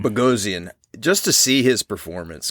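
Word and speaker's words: Bogosian: Eric how do you say his last name bosan bosan just to see his performance because he there's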